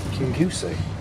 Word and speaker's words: Kingussie: One of the reasons I wanted to go to a rural village like Kingussie.